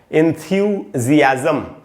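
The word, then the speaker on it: enthusiasm: तो अगर किसी इंसान का किसी चीज़ में बहुत ज़्यादा इंटरेस्ट हो या एंथ्यूजियाज्म हो, एंथ्यूजियाज्म पढ़ेंगे इसको, मैं इसका उच्चारण आपको बताता हूँ, एंथ्यूजियाज्म, एंथ्यूजियाज्म ऐसे पढ़ेंगे, और इसका मीनिंग है उत्साह, जोश, और इंटरेस्ट का मीनिंग होता है रुचि।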